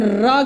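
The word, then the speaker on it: ऋ: इसका उच्चारण र के समान होता है, लेकिन इसको हम कैसे पढ़ते हैं, री।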